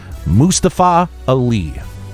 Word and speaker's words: Mustafa Ali: in a promo and randy orton takes on mustafa ali which i'm told that's the correct pronunciation for it really mustafa yes he made